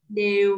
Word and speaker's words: đều: Ờ, khi mà con phát âm từ đều với miệng con giống như là đang cười, đều mến.